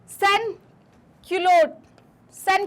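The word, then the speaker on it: sans-culottes: को क्या बोलते थे सन क्लोट सन क्लोट्स जो है इनको बोलते हैं ईएस जो होता है इसमें साइलेंट होता है तो सन क्लोट्स जो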